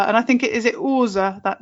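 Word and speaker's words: Aase: Apart from, that isn't true, because my mum used to call her Asa, and I think is it Orza, that name? A-A-S-E? Orza, yeah.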